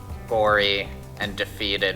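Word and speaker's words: Gorre & Daphetid: that's how you pronounce Gory and Defeated. It's like a play on words.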